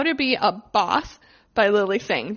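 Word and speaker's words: Bawse: So number 1, How to Be a Boss by Lily Singh. The reason I took a pause before boss is because it is spelled B-A-W-S-E.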